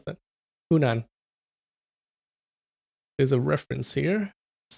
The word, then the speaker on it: Hunan: How do you pronounce that? Hunan.